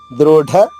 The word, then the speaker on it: దృఢ: ఢాకి ఒత్తుంది కాబట్టి నొక్కి చెప్పాలమ్మా. దృఢ నిశ్చయ.